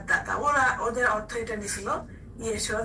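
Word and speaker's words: ישוע: তা এই ঈসা আলাইহিস সালামের নাম যেটা অরিজিনাল নামটা এরকম উচ্চারণ ছিল যে ইয়েশুয়া।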